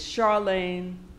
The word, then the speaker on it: Charlayne: heard and this year our new Queen is Charlene Hunter they pronounced my name right which a lot of